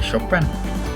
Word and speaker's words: Chopin: Hablamos de Chopin, se escribe Chopin, pero se lee Chopin.